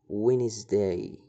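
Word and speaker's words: Wednesday: الفيديو السابق حرف الدي لا يلفظ حرف الدي اذا جاء قبل حرف الان مثل وينزداي وينز دا معناها يوم الاربعاء فحرف الدي الدي الدي هنا يعتبر سايلنت اذا وجد حرف الاي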